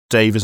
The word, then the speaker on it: Devas: I've heard 2 pronunciations, Devas and Divas. It could be either. Mm-hmm.